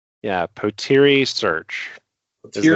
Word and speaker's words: Potere: Um let let's get the name of it pronounced correctly. Yeah. Potiri Search is the name that we pronounce it.